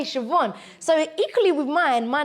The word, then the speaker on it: Siobhan: You wouldn't off the script be able to think, oh, I know how to say Siobhan.